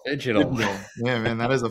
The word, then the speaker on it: Phygital: Fidgetal? Phygital. Fidgetal.